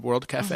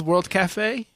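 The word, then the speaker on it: World Cafe: Actually, there is no accent. Technically, for some reason, they didn't put an accent on the E at the end of cafe. So if you say café, I suppose you're reading it properly.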